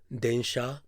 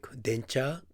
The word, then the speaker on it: densha: Japanese word densha, kaisha, shashin, shachou, which means trains, companies, photos, and CEOs, are often pronounced by Thai people like dencha, kaicha, chachin, chachou. This happens because the Thai sound system does not consider the difference between sha and cha to be very significant.